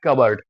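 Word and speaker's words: cupboard: দেখবে পরে বলা আছে আউট অফ the stairs কাবার্ড। এটাকে কিন্তু আমরা কাপবোর্ড বলবো না, হ্যাঁ, কাপ, BOARD, কিন্তু এটাকে প্রোনাউন্সিয়েশন করবো কাবার্ড। ঠিক আছে, এটাকে কাবার্ড বলবো।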